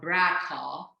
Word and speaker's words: BRCA: has a mutation in brca or as some people call it bracha which is basically br